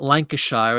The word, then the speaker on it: Lancashire: it washeda well like in England it's not Lancashire it's Lancashire four thousand holes in Blackburn Lancashire they don't say Lancashire so it's the same